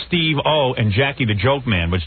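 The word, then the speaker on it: Steve-O: ICP New York here's steo steo steo like his name steo one word steo well in all in all fairness to Ed what the hell is Steve I mean what how you supposed to pronounce that although he does get everyone's name wrong it's supposed to be Steve O and Jackie the jokan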